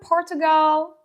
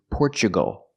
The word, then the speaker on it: Portugal: correct hi from Portugal the country is not pronounced Portugal maybe she's speaking Portuguese I don't know but in American English the word is Portugal we pronounce a t with the chch sound because we have Tu we usually do that when you have Tu in the middle of the sentence we say CH like nature and natural so we